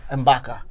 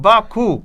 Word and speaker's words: M'Baku: No, I have no problems with Marvel calling him, what is him, M'Baka, or whatever you call him. M'Baku.